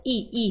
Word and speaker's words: y: ll e o y o y quando ele é usado como conjunção ele tem som de i exclusivamente sempre tá conjunção por exemplo assim pastor e cerdo i i tá vendo iso é